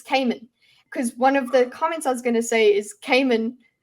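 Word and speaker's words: Camon: I mean, in the audiobook, it's Kammen.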